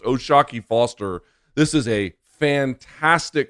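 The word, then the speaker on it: O'Shaquie: It looks like it's spelled Oshaki, but it's pronounced Oshaki Foster.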